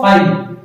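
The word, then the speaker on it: phi: रहे हैं जिसे हम लोग फाई कहते हैं, प्रोनाउंसिएट करते हैं इसको फाई, ये भी एम्प्टी सेट को रिप्रेजेंट कर रहा है।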